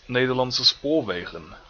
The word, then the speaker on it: Nederlandse Spoorwegen: Hi, I'm Nederlandse Spoorwegen, Actually, it's pronounced Nederlandse Spoorwegen.